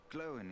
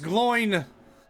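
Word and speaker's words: Glóin: Glowin is his name, and he is skilled in the appraisal of gems. Pronounced Gloin.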